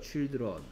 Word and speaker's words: children: 그래 무슨 child야 child는 이게 특이한 게 뭐냐 I의 발음이 지금 상태는 I야 I 근데 이게 복수형이 돼서 이렇게 되면 얘는 I가 아니고 E로 바뀌어 버려 children 마치 이런 걸 보고